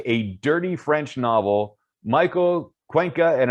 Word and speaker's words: Cuenca: dirty french novel michael cuenca and if i pronounce that wrong sorry i don't speak spanish man mike it's a pleasure to talk to you pleasure to talk to you you nailed it though cool i get